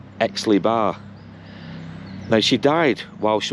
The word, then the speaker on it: Aix-les-Bains: it's in France, but I think it's pronounced something like Aix-les-Bains.